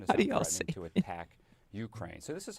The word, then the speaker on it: Ukraine: Next thing you know, Ukraine is not pronounced Ukraine. It's Ukraine.